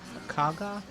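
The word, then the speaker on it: Kagha: you go ahead okay kga that's kaga K that's how it's pronounced your welcome can be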